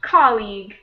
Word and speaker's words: colleague: And this one here is pronounced colleague.